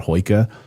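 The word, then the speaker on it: hygge: And even the Norwegians and the Danish have a term for that cozy lighting atmosphere called hoika. I think it's pronounced.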